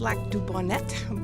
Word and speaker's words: Lac du Bonnet: has a strong accent I know it's Lac Du Bonet but we all say Lac duon and how do you know that it's Bonet cuz that's how it's spelled like Bonet Bonet yeah